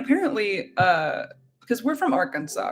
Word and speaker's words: Arkansas: what and they go they could pronounce it Arkansas not our Kansas and Lucy was just